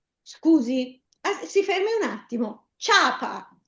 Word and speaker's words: ciapa: Con il ditongo, eh il ditongo vuole le due parole, le due vocali. C'è una vocale debole che è la i la vocale forte che è la a. Ciapa, le pronunciamo tutte e due insieme, nessun accento.